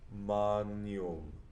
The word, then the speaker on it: magnum: In the late Latin scheme that we're using here, the GN, that's the same thing as Spanish ñe sound. So that's how I've represented it here. O Magnum.